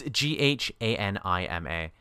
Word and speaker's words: Ghanima: I think it's pronounced Ganima. Yeah, Ganima. Ganima, yeah. It's Ghanima. That's correct.